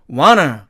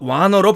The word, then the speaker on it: wanna: 그러나 철자가 은트의 개념이니까 트가 사라지는데 이걸 떼고 나니까 또 N과 T가 만나죠. 그래서 이 T가 또 사라지고 이 U는 앞에 있는 want의 A자에 액센트가 있으니까 액센트를 잃어버려서 약해져서 어로 바뀌니까 결국 wanna 이렇게 되겠죠.